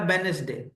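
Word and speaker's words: Wednesday: जैसे य लिखा है वेनसडे तो इसमें साइलेंट क्या होता है डी इधर है इसमें जी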